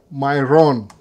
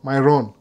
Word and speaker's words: Myron: By the way, mu pronounce vibaya saa zingine. Myron. Kama Byron. Myron.